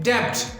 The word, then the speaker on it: debt: some people are pronouncing Deb but the B is silent here the B is silent